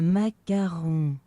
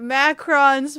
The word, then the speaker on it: macaron: Man, I've been saying it macrons for years.